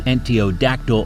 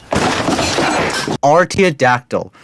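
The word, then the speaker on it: artiodactyl: It was an early antiodactyl hoofed animal. It was an early antiodactyl hoofed animal. It was an early antiodactyl hoofed animal. Artodactyl.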